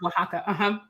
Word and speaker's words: Oaxaca: pronounced Oaxaca. She put that Oaxaca. in the thing earlier. I've Thank never been to Oaxaca, you.